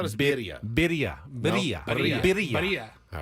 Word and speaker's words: birria: Birria? Birria. You know I can't Birria. roll my R's, but it's a Birria. double R, so. Birria. I thought it was birria. Birria. Birria. Birria.